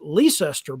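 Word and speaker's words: Leicester: in North Carolina named after that which is pronounced leester by the locals uh just go just like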